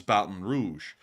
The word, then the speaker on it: Baton Rouge: but it's not, because it's actually a French town name that got kind of translated into English, but it still holds its original French pronunciation, which is Baton Rouge.